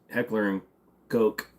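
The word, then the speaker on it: Heckler & Koch: bucks you'll love it why are people afraid of pronouncing Heckler and Coke because it's Heckler and Coke uh what's the most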